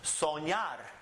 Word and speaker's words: soñar: This one ends with an R, so it's the last syllable. Soñar.